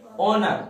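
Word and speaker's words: honour: अब इसमें इसको पढ़ो, ऑनर, क्या पढ़ेंगे ऑनर, ऑनर कैसे स्टार्ट होता है, आ से स्टार्ट होता, एन लगाएंगे।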